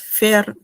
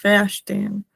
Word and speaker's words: verstehen: O sea, no es fair, es verstehen, ¿no? Y mantener esta vocal larga, ¿no? La E.